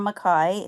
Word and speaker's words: McKay: I am McKay, it's pronounced McKay, and I am with the new Super PAC Aloha Conservative Alliance.